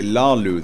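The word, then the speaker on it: Hlaalu: the snow Lalu Farm sorry Lalu they don't pronounce the h do they Lalu Farm okay I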